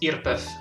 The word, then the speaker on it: IRPEF: income in Italy is called IRP EF or pronounced Earp F which means which stands for imposters who ready